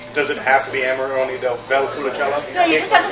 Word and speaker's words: Amarone della Valpolicella: So say Amarone del Valpolicella. And you have to say it like that. With an Italian accent.